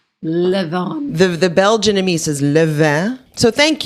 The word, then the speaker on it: Levain: York called Levain Bakery it could be pronounced Levon but here's how it's spelled in case you know how to say it it's l-e-v-a-i-n live on the the Belgium so